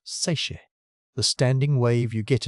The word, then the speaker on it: seiche: This is a seiche, pronounced seiche.